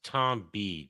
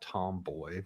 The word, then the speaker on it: Tom B: pronounced Tom B. Tom B, not Tomboy. What the There's fuck? no O or Y there.